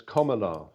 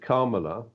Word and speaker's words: Kamala: how it's pronounced, and it's pronounced like that item of grammar, a comma, so it's Kamala.